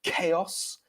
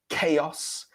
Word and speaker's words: chaos: And they both have the K sound for the CH. So we have chaos, chaos, chaos, and choir, choir.